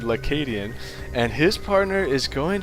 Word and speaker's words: lAcadien: I found out that that is an L in front of his name and it is pronounced in one word ladian and his partner is